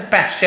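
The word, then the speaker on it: pasture: बाई बोलते, पास के, पास्चर है, पैस्चर ऐसे कहा था इंग्लिश में, एक्सेंट का फर्क आता है, टी यू आर को चर पढ़ते, जैसे नेचर, फ्यूचर है ना, मॉइस्चर, तो टी यू आर चर, पास्चर, पास्चर, इसे बोलते चारागाह, जहाँ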